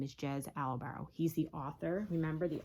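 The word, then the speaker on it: Jez Alborough: I had to look it up because I forgot how to pronounce it. So his name is Jez Albaro.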